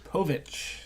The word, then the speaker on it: Povich: one of those really poverty poor Laurie Povich Povich yes that's how you say it shows like